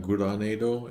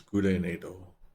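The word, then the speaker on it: グレネード: So it's not Guranedo, it's Gurenedo. A re in there instead of a ra.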